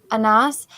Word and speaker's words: Anas: Does how do you pronounce his name? Anas ABDIN. Anas.